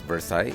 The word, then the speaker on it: Versailles: Yup, it's pronounced as Versa it's a French word.